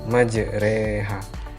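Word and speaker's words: مجريها: surat hud ayat 41 majroha bacaan yang benarnya adalah majreha mushaf Utsmani kita akan menemukan majroha tapi membacanya majreha Hai Kemudian yang kedua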